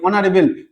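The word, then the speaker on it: honorable: না, তখন আমরা এরকম, এই যে অনারেবল, অনারেবল, এখানে এইচ এর উচ্চারণ অ, অ হচ্ছে, তাই আমরা এটা করবো কি?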